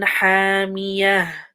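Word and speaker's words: حَامِيَة: Ha. This is a hot ha. حامية. Again, don't forget that sound at the end.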